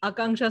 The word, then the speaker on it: Akanksha: To know in depth about her journey and about her venture, I would like to welcome Akanksha. Hi, Akanksha, how are you?